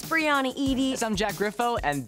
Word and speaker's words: Breanna Yde: It is pronounced Breanna Yde.